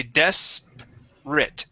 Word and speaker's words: desperate: right here okay um instead of desperate it is desperate desperate desperate uhhuh yeah so we skip over this R sound desperate uh we don't pronounce that R we say desate desperate okay desperate just like